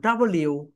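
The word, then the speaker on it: W: sound is ভকে এটাকে আমরা সবাই ভুল বলি এটাকে ডাব বলি রাইট প্রসিশন হবে ডবউ স ডাবলিউ ডাবলিউ এভাবে ডাবলিউ ডাবলিউ ডাবলিউ ডাবলিউ আমরা ডাব বলি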